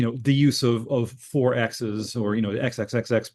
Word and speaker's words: XXXX: the book uh for XXXX which is pronounced 4X um and this derives